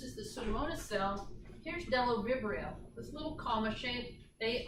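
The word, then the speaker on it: Bdellovibrio: The next genus is Delovibrio. The B on this word is silent.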